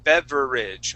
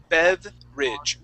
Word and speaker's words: beverage: the word beverage okay so when we pronounce this word uh we don't re we don't pronounce that e r sound saying beverage okay so we skip right from that V to the r okay and uh it's